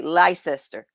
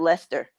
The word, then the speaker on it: Leicester: Well, to me, it's a Leicester. Leicester. They pronounce it Mhm. Leicester.